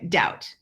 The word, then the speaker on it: doubt: I make oh yeah doubt so debt dumb thumb doubt those are all silent B's and days on the